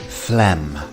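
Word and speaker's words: phlegm: as an f and we have a silent G so this word is quite deceptive fleem next up we have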